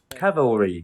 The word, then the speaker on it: cavalry: interesting that he emphasizes the stresses on the first syllable when he pronounces it the first two times individually. Then the third time it's the second syllable, and in the sentence it's the second syllable.